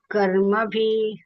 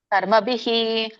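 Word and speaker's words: ಕರ್ಮಭಿಃ: ತೇತೆ ಮುಚ್ಚಂತೇತೇಪಿ ಕರ್ಮಭಿ ಕರ್ಮಬಿಹಿ ವಿಸರ್ಗ ಹೇಳಬೇಕಲ್ಲ ಬಿಹಿ ಕರ್ಮಭಿ ಅಲ್ಲಿ ಮಾನವಾಹ ವಿಸರ್ಗ ಇದೆ ಹ ಹೇಳಬೇಕು ಮಾನವಾಹ ಕರ್ಮಬಿಹಿ ಬಿ ಇದೆಯಲ್ಲ ಅದಕ್ಕೆ ಬಕೆ ಈ ಸ್ವರ ಕೂಡಿದೆ ಬಿ ಆಗಿದೆ ಹಾಗಾಗಿ ವಿಸರ್ಗ ಕೂಡ ಹೀನೇ ಹೇಳಬೇಕು ಅಂದ್ರೆ ಈ ಸ್ವರನೇ ಹೇಳಬೇಕು ಕರ್ಮಬಿಹಿ ಅಲ್ಲಿ ಅ ಕೂಡಿದೆ ಹಾಗಾಗಿ ಮಾನವಾಹ ಅಂತ ಹೇಳ್ತೇವೆ ಹ ಹೇಳ್ತೇವೆ ಥ್ಯಾಂಕ್ಯು ಹರೇ ಕೃಷ್ಣ ಶ್ಲೋಕ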